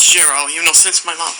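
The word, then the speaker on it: Chiro: it for the record my name is sherro it's spelled s c h i r o s c h i r o you got that right shirro shirro you almost pronounced it yes you got it Shir okay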